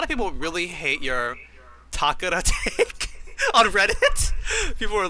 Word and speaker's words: Takeda: Takeda. It is a real Japanese name. It has an official Japanese pronunciation.